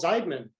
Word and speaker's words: Zeidman: our special guest zeidman did i pronounce that right that is exactly right thank you for saying it the correct way i get multiple versions